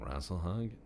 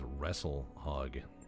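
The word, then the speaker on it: Rasalhague: Steiner is taking shit, and the Valkyrit is attacking Rasselhog. Wow. I knew a guy who used to pronounce it as wrestle hog, like, you're a pig and we'll wrestle, you know, and I mean, I guess it is, but damn.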